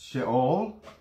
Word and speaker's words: Sheol: And we got Sheol, and that's Sheol in Hebrew.